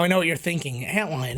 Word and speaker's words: Antlion: know what you're thinking antlion isn't it pronounced alien no I'm dumb enough to think that I'm gonna go with the one that makes me feel better when I say it which is antlion so anyways antlion was